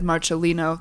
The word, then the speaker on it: Marcellino: pronounce your last name Marcelino Marcelino I pronounce it incorrectly it technically should be said Marcelino that's the Italian way I don't say it